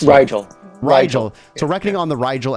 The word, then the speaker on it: Rigel: I mispronounced it. Rigel.